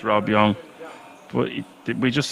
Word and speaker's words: Yong: Rob young or Roby I used to think it was Rob Yong but it's Rob Yong but we just say